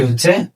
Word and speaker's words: هـ: আমরা চলে যাচ্ছি আমাদের আজকের পাঁচ নাম্বার হরফটি হচ্ছে হা আমাদের আজকের পাঁচ নাম্বার নাম্বার বলা হচ্ছে হাকার হা।